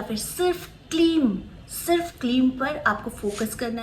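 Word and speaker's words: क्लीं: अगर उच्चारण करना चाहते हैं सिर्फ क्लीम मंत्र को, तो क्लीम के साथ एक खिंचाव होना चाहिए। क्लीम म का वाइब्रेशन जो होता है यही बहुत इंपॉर्टेंट होता है अपने चक्रस को जागृत करने के लिए।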